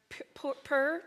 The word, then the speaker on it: Pur: Rick did read some details around the word Pur, is how you say it, p u r, is a little bit of Jewish information.